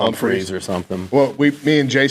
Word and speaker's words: Humphrey: They had Jalen Braxton in, corner from Arkansas, Julian Humphrey, corner from Georgia. You're just going to insist on not pronouncing that H, aren't you?